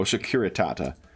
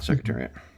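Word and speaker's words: Securitate: Oh, Shakuritata, not secretariat. I should lose my streak on uh German duolingo for mispronouncing that.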